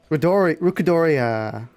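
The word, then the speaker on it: Rukodiora: I don't remember how this monster is pronounced, sorry. Rukadoria.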